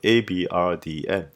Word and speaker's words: abrdn: Aberdeen then continued its branding mishaps by rebranding itself to Abrdn, pronounced the same way but spelt without all the E's.